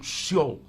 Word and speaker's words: Sheol: Então ali o Hades, ou Sheol, não é Sheol, o S e o H junto, a pronúncia no hebraico seria do clássico um X, então Sheol.